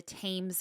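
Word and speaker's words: Thames: Hey, the Crossbones Cemetery is tucked away in Southern London on the south bank of the Tames River.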